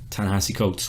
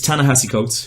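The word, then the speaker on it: Ta-Nehisi Coates: which is written by Tallahassee Coates which I mispronounced last time but it's Tallahassee coats who is a famous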